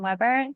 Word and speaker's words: Weber: really interesting book by Sam Weber who pronounced his last name Weber just don't get offended by that um about Benin Walter